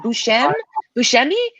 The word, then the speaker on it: Buscemi: Buscemi? Steve Buscemi, final answer?